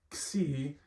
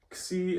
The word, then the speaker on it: Xi: Xi is basically just a combination of K and S, or perhaps kappa and sigma. And it, unlike the English letter X, always is fully pronounced.